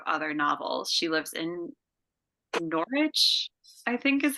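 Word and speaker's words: Norwich: a number of other novels she lives in norch I think is how you say it yeah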